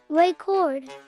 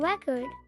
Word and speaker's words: record: If you stress the first syllable, record, it's a noun, like a vinyl record. If you stress the second syllable, record, it's a verb, meaning to tape something.